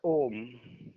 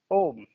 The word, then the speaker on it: ओम: तो एक्चुअली सही ही अगर ओम को लिखा जाए तो ओ आधा ह अ म लेकिन यहां बोलते समय ह साइलेंट है माने गुप्त है इसलिए बोला जाता है ओम ओम वो परमात्मा जो हम